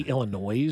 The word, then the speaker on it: Illinois: It's like, People say Illinois. Oh, I'm sure they still pronounce the S.